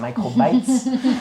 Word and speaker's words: Microbytes: bénévole pour un site qu'il faut prononcer en anglais s'il vous plaît. C'est Microbytes, euh microcro en français.